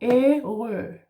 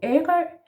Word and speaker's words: Ærø: And this is the sound that you need here in this word, yeah? So we go Ærø. Sometimes if we spell this sound, we would spell it with an H afterwards, but this is not what it is in this place. So Ærø, Ærø.